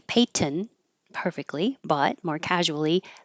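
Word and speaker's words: Peyton: N noise paint and here with this person's name Payton I'm I'm not making a little nasal before I stop the sound but they're close enough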